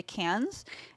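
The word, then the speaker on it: Cairns: cats it's squir though cuz I spell k a i r NS but it's can they're like we're just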